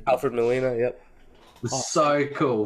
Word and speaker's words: Alfred Molina: sick i loved like um what's his name alfred molina is that say how you say his name alfred molina yep it was so cool seeing him again